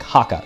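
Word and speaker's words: Jaca: lifetime or two away the j is pronounced like an h so it'll be like haka thank you very much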